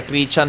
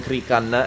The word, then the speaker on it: Krichan: avevano dato qualcosa, effettivamente, si pronuncia Krichan e non Krikan, esatto, e quindi la